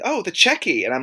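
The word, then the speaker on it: Checquy: and you're like, "Yeah, this is how it's pronounced." And I always thought it was sheke. Mhm. And then people kept saying, "Oh, the checky."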